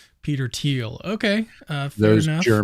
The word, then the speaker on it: Thiel: So, someone mentioned in the comments that I'm mispronouncing his name. It's Teal, not Teal. Peter Teal.